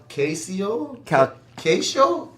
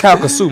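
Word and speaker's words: Calcasieu: How do you say that parish name? Calcasio? Calcasio Let's parish? Caucasian. A Caucasian parish. Man, that's Calcasoo, man. Calcasoo. Calcasoo, Yeah, alright. Calcasoo, I'll take that.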